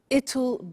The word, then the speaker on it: it'll: I said tomorrow it'll be cold. You notice how it will becomes it'll.